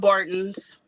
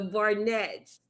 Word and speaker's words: Barnett: Bartons, The so the Barton Barnetts. had other children. They had some other boys, huh? What you said? The Barnetts.